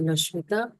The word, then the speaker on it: Loshmitha: So today our guest master is Master Loshmitha from Bairedipalli. Is it correct pronunciation? I hope is right. Yes, ma'am, it is correct.